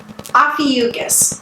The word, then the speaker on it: Ophiuchus: source I found and we're gonna go with the pronunciation Ophiuchus so the 13th sign-off